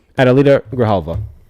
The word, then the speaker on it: Adelita Grijalva: How to pronounce her name. Adelita Grijalva is how it's... We got it. Adelita Grijalva.